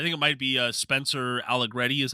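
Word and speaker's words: Arrighetti: I am blanking on I think it might be Spencer Aligretti is how you say his last name.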